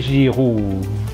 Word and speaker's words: Giroud: Olivier Giroud itu bunyinya U biasa di bahasa Indonesia dan akhiran D-nya tidak dibaca. Olivier Giroud ya.